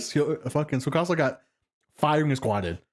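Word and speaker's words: Tsukasa: Like this man died like Okay, that being that being said though, the way um uh Sukasa Sukasa, thank you. I was getting the pronunciation wrong in my head where he says like there's no way he and Kohaku did not die, bro.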